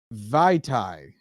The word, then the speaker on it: Vaitai: Halapulvadi Vaitai went from the Eagles to the Lions on a 5-year, $15 million deal.